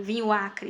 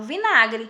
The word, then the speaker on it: vinagre: vinagre vinho mais Acre Eu não falo vinho Acre vinho Acre eu falo vinagre Li e ouvi mudança